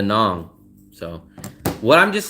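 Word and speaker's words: Nẵng: with Hong Kong or do you call it dang what do you call it will I call it dong rhymes with Hong Kong all the locals that we know call it dong they don't call it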